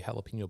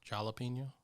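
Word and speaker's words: jalapeño: I think it's actually pronounced jalapeno. Starts with a J.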